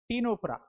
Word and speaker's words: Ctenophora: The phylum Ctenophora, c t e n o p h o r a. Ctenophora. What is this ctenophora? Ctenophora. See, c silent. You shouldn't pronounce the word c here.